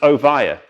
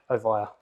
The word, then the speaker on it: Ovia: yes i know it's an awesome and it's pronounced oh via oh via right so there you go great thank you